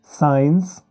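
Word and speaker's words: science: देखिए यह है पहला शब्द है जैसे दोस्तों साइंस आगे है चैप्टर फिर मसाला आगे एसेंस तो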